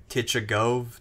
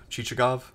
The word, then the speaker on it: Chichagov: to say his name kitsch ago no the T is silent cheechee go chichagov yeah t is actually a leftover from French spellings of Russian names you know so sometimes